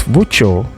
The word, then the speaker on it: voiture: It's voiture.